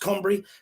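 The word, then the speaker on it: Cymru: is not like the english alphabet and it's pronounced cumbrie forgive me if you're welsh and you're watching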